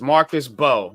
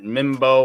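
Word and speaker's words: Marcus Mbow: So it's Marcus Bowe. So drop the M, y'all. We know now it's Marcus Bowe. Yeah, Marcus Bowe makes it a lot easier for us to pronounce. So I got tired of that Mimbo or Imbo or Nimbo. Marcus Bowe. So Mr. Bowe, got Scat Bowe, got Bowe, so elbow.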